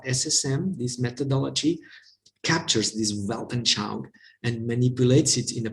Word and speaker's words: Weltanschauung: Maybe you can raise your voice and pronounce it correctly in German. Weltanschauung.